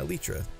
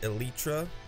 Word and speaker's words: Elytra: I can trade for one of those, and I can add these two books to my Elytra.